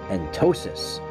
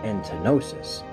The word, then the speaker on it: Entosis: I am sorry for that, and I am using the correct pronunciation of it this week, Entosis. Not Entenosis, Entosis.